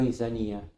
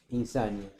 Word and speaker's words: insania: Parece de insania, se dice, ¿no? Insanía, insania.